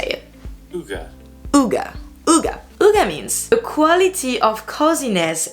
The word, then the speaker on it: hygge: had to play it to make sure i pronounce the name correctly so this is how you say it uga means a quality of coziness and comfortable conviviality